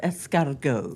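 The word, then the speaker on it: escargot: And they're not pronounced fu. No, they're pronounced they're pronounced escargo.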